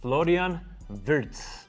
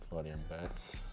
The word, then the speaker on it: Florian Wirtz: All right, first one on our list, Florian Wirtz, right? That's how you say it? Florian Wirtz.